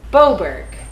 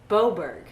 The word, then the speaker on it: Beaubourg: had a home but how exactly do you say Oh boulders Beaubourg Beaubourg okay that I've been saying it right the whole time be Oberg theater look